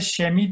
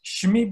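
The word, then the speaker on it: שמי: daha rahat söylemek için bize şemi değil de şmi biraz daha telaffuzu daha rahat olduğu için bunu biz şiva, başına şiva olarak getiriyoruz.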